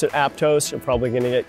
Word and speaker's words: Aptos: of my favorite coastal towns in California Aptos pronounce it Aptos you're probably going to get cut off by